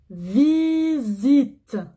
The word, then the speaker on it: visite: La visite. Ici aussi, le S se prononce Z.